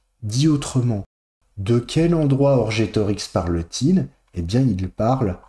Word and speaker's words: Orgetorix: Il fallait que poenam, la peine, sequi, suive littéralement, damnatum orgetorigem, suive Orgetorix, je l'ai mal prononcé tout à l'heure, Orgetorix, condamné.